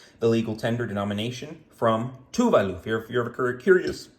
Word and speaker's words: Tuvalu: legal tender denomination from tuvalu if you're ever curious how do you pronounce that it's Tu Valu then that classic beautiful